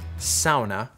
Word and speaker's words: sauna: issue as long as there is a sauna that's the proper way to pronounce it i would know because he taught me because he's finnish and they created them